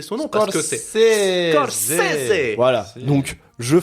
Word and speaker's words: Scorsese: pas écrire Scorsese et on sait même pas prononcer son nom parce que c'est Scorsese.